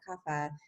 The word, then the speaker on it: kapha: done and then there's kapha kapha um you can pronounce it both ways uh which is